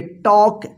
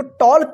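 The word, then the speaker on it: talk: कोई पूछता है तो टॉल्क क्यों नहीं पढ़ा जाएगा, तो आप आसानी से बोलना है कि के से पहले एल है, एल जो है ना यहाँ पे साइलेंट है और इसका उच्चारण नहीं होगा।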